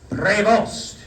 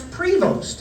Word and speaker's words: Prevost: on the first syllable, Prevost. But Mamberti, it seemed to me, and I've since gone back and checked the tape, he put the emphasis on the second syllable, on Vost.